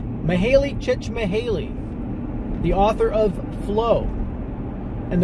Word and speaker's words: Mihaly Csikszentmihalyi: Today's loaf comes from my friend whose name I butchered last time, but in the interim I've learned how to pronounce it correctly. Mihaly Csikszentmihalyi, the author of Flow.